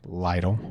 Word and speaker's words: Lytle: Lytle. Lytle. Or is that how you choose to pronounce it?